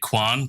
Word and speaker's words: Kwan: watching can i just can i applaud you for being able to say quan because all americans say queen oh use